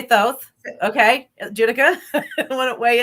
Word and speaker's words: Thoth: tarot you know that's totally so you say Thoth okay I want to weigh in on pronunciation I say those two okay okay I